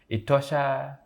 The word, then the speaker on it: Etosha: the Etosha National Park, Etosha name does not have any meaning in the Oshiwambo speaking. It's supposed to be Etosha. So because the colonizers could not pronounce and write Etosha, they ended up writing Etosha. So today we have got Etosha as the national park, which is the wrong pronunciation of what we are supposed to be having.